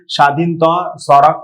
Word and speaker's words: Swadhinta Sadak: The pronunciation goes like Swadhinta Sadak. It is a Bengali pronunciation.